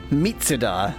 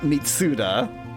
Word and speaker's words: Mitsuda: And right, like, Mitsuda is Mitsuda, not Mitsuda. That one I know.